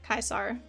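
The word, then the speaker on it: Caesar: But yes, in Fallout they actually pronounce it Kaisar, which is correct.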